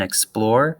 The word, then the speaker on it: explore: explore the stress in explore is on the plore part of explore we know that because we can like draw it out and like really pinpoint it we can if we really exaggerate the syllables and we put the stress on the x it becomes x explore explore and that sounds kind of weird but if we say explore explore that sounds more natural more normal if we